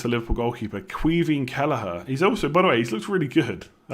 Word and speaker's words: Caoimhín Kelleher: How do you pronounce the Liverpool goalkeeper? Caoimhín Kelleher.